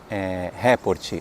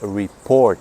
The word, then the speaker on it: report: A pronúncia correta em inglês de relatório não é report, é report. Você põe a sílaba tônica, você põe a força da palavra em po, né? Então a palavra fica report, não report.